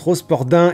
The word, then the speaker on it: Rosporden: était bien numéro 9 ça se prononce rosporden et part aux sports den j'ai été induit en